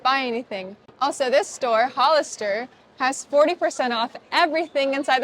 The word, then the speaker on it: Hollister: You pronounce this store Hollister. Hollister. If you're a Spanish speaker, pronounce the H like a J. Hollister.